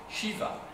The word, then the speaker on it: Shiva: Et vous avez un autre lieu qui est Shiva. L'orchiva, ça peut être SH Ia, ça peut être CDI VA. Enfin, vous voyez, il y a plusieurs transcription possible mais ça se prononce Shiva en toute hypothèse.